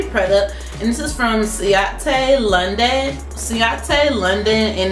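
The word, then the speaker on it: Ciaté: All right, and then the last item that we got is a lippy product, and this is from Ciate London, and it's spelled C-I-A-T-E.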